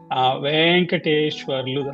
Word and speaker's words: Venkateshwarlu: Venkateshwarlu, that's how we pronounce in Telugu.